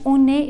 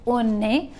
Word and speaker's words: on est: O, A is the pronunciation separately, O and A. And if I join, because a consonant always gets joined with a vowel, so on est. Consonant after, consonant in front of a vowel, joining, and vowel, when in